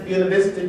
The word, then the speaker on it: Buena Vista: kid who grew up in a town we pronounced as Buena Vista Georgia connect itself with Langston Hughes how not